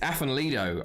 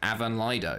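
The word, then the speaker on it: Afan Lido: it was funny because I called uh it's F and Lido I call them and then I might I was uh at a Welsh housemate and he's like it's you know it's actually pronounced Avan Lido and I'm like ah yeah well that doesn't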